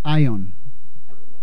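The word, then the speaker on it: αἰών: La palabra clave eh central aquí eh bíblica es una que se pronuncia en griego ion.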